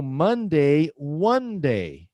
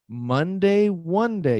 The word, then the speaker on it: Monday: Mun rhymes with one. So Monday is the first day of the work week. So Monday, Monday.